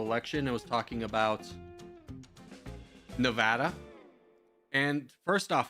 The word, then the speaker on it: Nevada: It was talking about Nevada. And first off, it's Nevada. I hate when people say Nevada. It's not. It's Nevada.